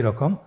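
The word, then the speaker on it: راء: র হরফটি এখানে আমরা পুর করে উচ্চারণ করব। মোটা করে উচ্চারণ করব। এবং র হরফটি এক আলিফ টেনে পড়ব।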